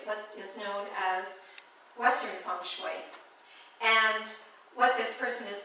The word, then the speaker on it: feng shui: So it's not feng shui. I know, we want to do it phonetically. And to tell you the truth, I do my best to pronounce it authentically, feng shui, and that's, again, phonetically how it would be pronounced.